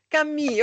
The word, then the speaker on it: Camus: E ali em 1942 teve um rapazinho chamado Albert Camu ou Camus, eu nunca sei como é que pronuncia esse nome. Enfim, o cara escreve, a Thía sabe. Diga, Thaísa. Cami.